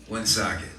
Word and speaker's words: Woonsocket: Am I doing it too hard on the ooh? You are a little Woonsocket. Woonsocket. Yeah. There you go.